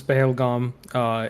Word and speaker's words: Pahalgam: Um, I'm obviously saying it in native pronunciation, but this is Pahalgam.